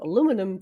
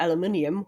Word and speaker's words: aluminium: dogs, and after wrapping the plate in some aluminum foil, or aluminium, however you want to pronounce it, to keep them warm, she started the short walk to Sonic's apartment in Station Square.